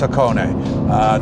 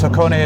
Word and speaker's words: Hakone: This is the limited edition Hakone. Okay, let me back up in case I'm pronouncing that wrong, but I'm pretty sure it's Hakone.